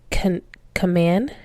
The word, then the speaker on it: Kahneman: I want to say it's Kahneman. Not Command. It's definitely not Command. It's Kahneman.